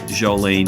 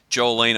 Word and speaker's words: Sjolin: from Portland Oregon Dave Jolene always have trouble with your name Dave with that silent s silent J what I don't know what's going on there but Dave jool leene from diesel logic but